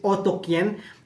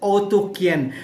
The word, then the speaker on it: Otyken: are they areen so how to how to pronounce it is otoken but but when you see the spelling is oten right so otin so if you're going to have to pronounce it with their language it's otoken so otoken is also is also a place